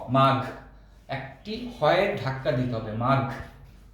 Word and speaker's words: মাঘ: অনেকে আমরা মাঘ বলি, মাঘ, গ এর উচ্চারণ করি, কারণ গ এবং ঘ এই দুইটি উচ্চারণ আমরা প্রায়শই শব্দের মধ্যে ভুল করে থাকি, গ বলে ফেলি। গ হলো অল্প প্রাণ, আর গ এর সাথে যদি হ ধাক্কা দেয় তাহলে ঘ বের হবে, ঘ, মাঘ।